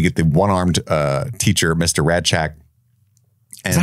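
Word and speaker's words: Rasczak: It's kind of a D sound, Radchak. Radchak. But it's spelled with like an S-Z-C.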